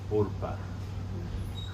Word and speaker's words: Orpah: It's really Orpah. Like, you know how like we have the word coal and we pronounce it coal, but it's spelled like this. So we pronounce it coal Or because this is a closed syllable. When we get this with a closed syllable, it sounds like oh, but I won't make